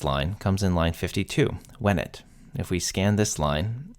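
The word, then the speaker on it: venit: we find out that the E in wenet is short, which means it's present tense. Wenet with a long E is perfect, came, while wenet with a short E is present tense, comes.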